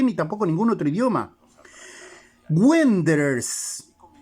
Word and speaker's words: Wanderers: Wanderers. El conjunto es Wanderers, no es Wander. Wander es la que se escribe W-O-N-D-E-R-S-R-S, está bien. Pero Wanderers va W-A-N-D.